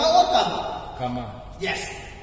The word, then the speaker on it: Kama: Karma or Kama? Kama. Yes. Spelling the Chunda pronunciation of Hagatam.